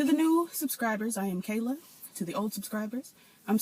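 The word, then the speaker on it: Kailah: To the new subscribers, I am Kayla. To the old subscribers, I'm still Kayla.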